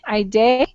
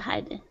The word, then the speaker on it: Heidi: Hide, is that Ide? Teacher, Oh, I think it's hide. Ide is hiding. It's Okay. Heidi, Heidi. Heide, is that correct? Yeah, my name is Heidi.